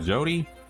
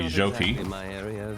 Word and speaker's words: Joti: There you go, good Jody. Or I should say Joti. Now that I've realized how to pronounce it, I'm playing this again.